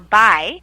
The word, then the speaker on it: boy: an immature adolescent boy boy or by is how we pronounce it is another term for friend or Pal or buddy oh so sometimes